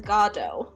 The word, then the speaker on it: Godot: first ap english assignment i'm pretty sure it's godot godot waiting for you but the actors in a rendition of play that i watched did pronounce it as gado okay but is that like a tomato tomato thing it's okay i feel like it's a tomato tomato it's not i feel like good dough is just easier it's definitely not go dot i am i propose